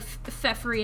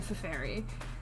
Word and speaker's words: Feferi: Like Fefri and Feferi. I've always pronounced her name Feferi.